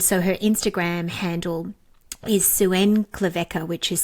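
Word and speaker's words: Xuan Klevec: And so her Instagram handle is Suen Cleca, which is spelled X U A N K L E V E C KN K A sorry K A Suen Clea.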